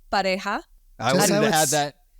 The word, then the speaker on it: Pareja: Yeah, and it is pronounced pareja.